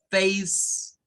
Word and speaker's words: face: y luego esa c Recuerden que la c no tiene sonido propio en el inglés la c a veces suena a una K cuando está al principio de las palabras como en el caso de Kate y suena a ese cuando está por lo general al final bien entonces ahí tendríamos el sonido Face okay no suenan verdad Y